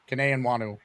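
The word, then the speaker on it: Kene Nwangwu: Uh I don't know I'm going to mispronounce his name but the kick returner number three Cananan Wanu.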